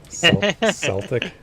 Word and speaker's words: Celtic: I'm gonna have to learn how to pronounce Celtic with a soft C Celtic my for the team